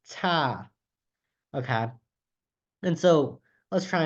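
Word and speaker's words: 他: for thumb or him but also her is pronounced ta okay and so let's try another one so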